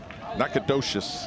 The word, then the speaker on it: Nacogdoches: Nacogdoches, Texas.